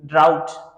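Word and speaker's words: drought: अब जी एच, जी एच भी साइलेंट होते हैं, जब जी एच साथ में होती है ना वो साइलेंट होते हैं, जैसे ड्राउट, ड्राउट, डी आर ओ यू जी एस टी, जी एच टी, जी एच टी, ड्राउट।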